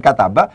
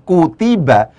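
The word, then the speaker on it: كُتِبَ: Ketika cara bacanya kaf ta ba ini kemudian disebut sebagai atau dilafatkan dengan kutiba, bukan kataba, otomatis dia dianggap sebagai majhul.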